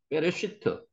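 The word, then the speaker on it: בראשית: 되느냐 물으시는 분이 있는데 여기에 점이 하나 찍히면 요걸 좀 강하게 대기 라는 소리입니다 그래서 업으로 읽기보다는 쌍 비업 읽습니다 발음할 때는 그래서 페레 시트라고 읽으시는게 정확한 발음입니다 리시트 한번 써 보시니까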